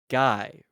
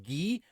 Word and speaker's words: Guy: So we're saying guy, even though it's pronounced Gee.